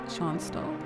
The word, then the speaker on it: Schonstal: person's name that's how you say that name sean stahl sean's though so it's a tactical match three